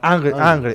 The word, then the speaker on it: Ingres: How you pronounce? Sorry, Dominic Ingres. Ingres. From Ingres. Angre.